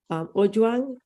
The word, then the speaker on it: Ojwang: Ojwang, I'm going to yield the floor to you. And I hope I'm pronouncing your name right.